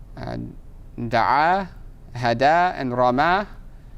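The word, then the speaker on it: رمى: Right, you'll just say rama. Right, because that last letter will be pronounced as an alif.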